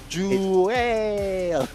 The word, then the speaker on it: Joel: Wait, is it Joel or Joel? Jul. Okay. All right. That's exactly how we're going to say his name. All right. We cannot say any other way.